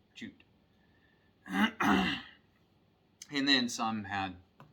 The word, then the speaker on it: jutte: they're not sure and jute is spelled two different ways j-o-t-t-e in j-i-t-t-e and they're both pronounced the same way jute and then some had